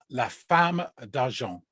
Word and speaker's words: La Femme d'Argent: La Femme d'Argent. You don't pronounce the Right.